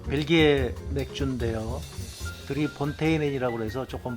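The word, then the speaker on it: Drie Fonteinen: 드릴까 합니다 아 이게 그 뭐 벨기에 맥주인데요 드리 폰테인이 그래서 조금 발음하기 어려워서 어 우리나라에서는 그냥 3분수이 3자 써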